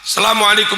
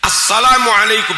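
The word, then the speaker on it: السلام عليكم: Asalamualaikum warahmatullah. Selam itu apa? Enggak sah. Itu al ketemu sin harusnya dibaca as. Innaka hamidum majid. Assalamualaikum.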